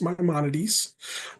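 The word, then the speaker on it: Maimonides: So, let's start with Mymones. So, Mymones is actually the name of the hospital. It is pronounced Mymonades.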